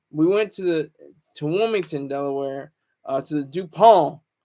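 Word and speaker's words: Wilmington: to the dupal hotel I don't say the T anymore everybody says the T but I'm I'm not gonna say the T I'm not GNA pronounce the T um Rick James says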